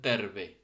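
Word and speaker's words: terve: টিটা নর্মালি ত এর মতো উচ্চারণ হবে, ঠিক আছে, ট না কিন্তু ত। যেরকম এখানে একটা ফিনিশ শব্দ আছে তেরবে, ঠিক আছে।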